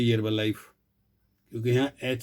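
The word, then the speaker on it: Herbalife: उसी के साथ उससे भी पहले की अमेरिका की हर्बल लाइफ, यहाँ बोलते हैं हर्बल लाइफ, क्योंकि यहाँ एच साइलेंट है। भारत में बोलते हैं हर्बल लाइफ।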